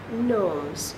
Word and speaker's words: gnomes: knows they're little elves gnomes you don't hear the G they're little bugs that